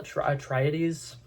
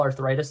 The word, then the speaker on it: Atreides: say his name because I accidentally said Paul Arthritis the other day and I got attacked for like two weeks, not 2 weeks. What? I got attacked for a while. I got a bunch of comments that were just like, that's not how you pronounce the last name.